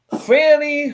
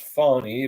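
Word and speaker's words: Fani: the red velvet cake Fanny Willis she prefers her name to be pronounced fonny but we're GNA call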